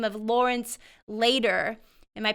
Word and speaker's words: Lawrence Lader: mentioned, but a man by the name of Lawrence Lader. Am I pronouncing that correctly?